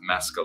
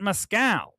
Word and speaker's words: Mescal: show you his physique people get confused with how to pronounce my name because of the drink Mezcal everybody I would have to I pronounce it mascal and I wonder if it's everybody so I don't want to hear anybody his name of Mescal not Moscow and by the way